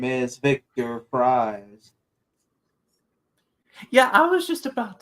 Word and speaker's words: Fries: My name is Victor Fries. Yeah, I was just about to say, like, I know but it's spelled like fries.